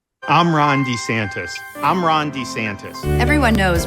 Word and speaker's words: DeSantis: and his wife Casey DeSantis diverging in how they pronounce their now shared last name I'm Ron DeSantis I'm Ron DeSantis everyone